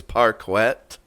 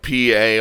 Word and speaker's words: parquet: to say it but i think it's parkwet right i think that's how you say it how's it spelled like p-a-r-q-u-e-t oh parque is that how you say it parker yeah okay as in like it's